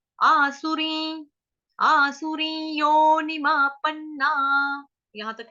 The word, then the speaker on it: आसुरीं: आसुरी शब्द जो है ये भी आसान है, आसुरी अनुस्वार का उच्चारण होगा य के ऊपर आधा, ये आधा य ऊपर चंद्र बिंदु य। आसुरी, आसुरी योनिमा पन्ना, यहां तक क्लियर।